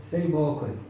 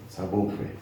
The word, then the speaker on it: Seyibokwe: Seyibokwe. Seyibokwe.